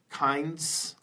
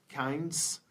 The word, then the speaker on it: kinds: is her pronunciation and they both have to deal with the sound alright so what'd be great is if she changed it a little bit kinds kinds can you say kinds and foods there are